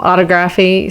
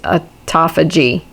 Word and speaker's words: autophagy: through the whole video i kept saying um autography so um just uh realize i was saying that wrong to the video it's a toffa g is how you pronounce it so um anyway